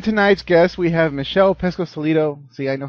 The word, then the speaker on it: Pescosolido: And tonight's guest, we have Michelle Pesco-Solido.